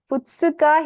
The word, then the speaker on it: Futsuka: Futsuka, here it's not a syllabic stop. The kana is as big as the other kana, so you pronounce it. Futsuka.